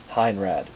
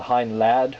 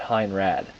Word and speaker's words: Heinrad: from Beast Wars Neo Heinrad. Sometimes called Heinlad, although because the Japanese don't possess L's in their language per se, or the pronunciation of it, we're going to go with Heinrad.